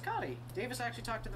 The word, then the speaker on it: Kati: It's pronounced Cotty. Davis actually talked to the developer who made it. It is pronounced Cotty. They're talking about what a lot of people call Katie Jones.